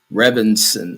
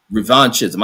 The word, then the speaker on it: revanchism: Rebansson. Uh I can't even pronounce that Let me get this word in here. Hold on. Let's get that word in. Revenism. Revanchism.